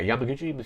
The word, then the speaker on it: Yamaguchi: so this is from um yamag or yeah Yamaguchi see that's how it's pronounced the designer yeah uh yeah Kazar Yamaguchi is the designer and it was quoted saying